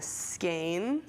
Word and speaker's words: skein: we want this in skein which rhymes with rain even though it looks like skiing i think it takes